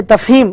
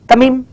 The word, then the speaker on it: Tafheem: जो मेरा नाम है तफहीम, तो हाँ। तकरीबन जो है ना तमीम, हाँ, तहीम, मतलब बराबर प्रोनाउंसिएशन तकरीबन थोड़ा डिफिकल्ट दिखता है लोगों को।